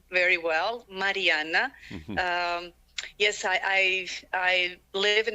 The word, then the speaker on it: Marijana: And as you said, you pronounced my name very well, Marijana.